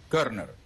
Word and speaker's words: Körner: Quisiera tus perspectivas después de la siguiente pausa, cuando volveremos con Lucas Maximilian Körner. ¿Así? Eso. Muy bien. Lucas Maximilian Körner. Eso. Así se pronuncia, ¿verdad? Eso. Körner.